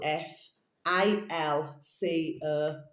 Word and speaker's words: Falco: Capital F A L C O Falco. Okay, mind you, there's something else. Is it know which rhymes with that? Is it velcro?